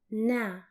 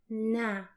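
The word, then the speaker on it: نا: well as plural one this is pronounced in Arabic as now now and the way it's written you combine the letters na plus ah now let's see how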